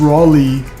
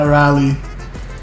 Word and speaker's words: Raleigh: point of parliamentary procedure Raleigh is pronounced Raleigh not ra rally rally Raleigh ooh that